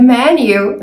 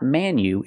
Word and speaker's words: menu: pronounce the word Manu it's not Manu it's me me menu it's a short clothes sound like 10 and bed me me men menu